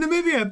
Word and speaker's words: Namibia: From Namibia.